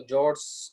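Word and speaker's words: fjord: ठीक है, F silent होता है तो जॉर्ड्स इसको बोल देते हैं।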